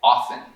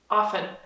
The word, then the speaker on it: often: E tem outra palavra bem interessante também, um T que segue a letra F na palavra frequentemente, com frequência, que é often. Often. Often. E não seria errado dizer often, e até mesmo em inglês formal, talvez, cuidando de todas as sílabas, seria certo, e todo mundo iria te